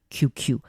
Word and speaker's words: QQ: Il s'agit d'un véritable adjectif composé de deux fois la lettre QQ prononcée à l'anglais QQ.